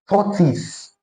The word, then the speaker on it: tortoise: Okay, tortoise with the schwa sound, tortoise, and not tortoise.